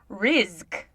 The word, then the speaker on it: Rizk: She said it's like risk with a Z. Rizk.